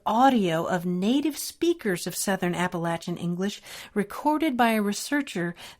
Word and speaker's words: Appalachian: Now, notice I said Southern Appalachian, which is the way you pronounce it in that part of the country.